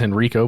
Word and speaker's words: Henrico: it by the way I thought it was Henrico but it's Henrico County and you can do